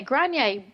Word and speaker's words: Granine: to me I I just love this anyway Granier welcome to baby and toddler instructions how are